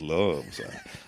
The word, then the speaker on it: Love: love well it's a it's pronounced Lou there but all the women can pronounce it love okay and she stores